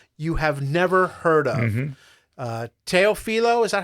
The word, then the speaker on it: Teofilo: Teofilo, is that how you pronounce it?